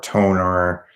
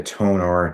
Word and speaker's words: Tonor: But if you want a budget brand, I would either go with Fifine or Toner. Toner's really good, which is spelled TONOR, and they're really good microphones.